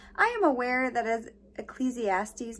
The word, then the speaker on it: Ecclesiastes: was like holy cow i've been saying this wrong my entire life so it is ingrained in my mind to say it ecclesiastics but i'm aware that it's ecclesiastes and i'm sorry that i said it wrong okay back to